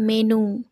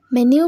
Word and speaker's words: menu: Next আছে MENU, এটাকে আমরা অনেকে বলি মেনু, কিন্তু এটা তো একটা ভুল উচ্চারণ। এখন থেকে বলবো মেনিউ মানে হলো খাদ্য তালিকা।